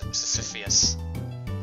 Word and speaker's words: Sisyphus: That's not how you pronounce Sisyphus.